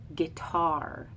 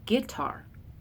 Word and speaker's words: guitar: from Ohio I say guitar so an unaccented and an accented syllable so I say guitar as an iamb my husband who's Appalachian says guitar so he says it accented and then unaccented so the exact same